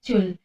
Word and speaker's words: Joule: satuannya sama yaitu Jul Joule Tapi bacanya Jul kemudian m itu apa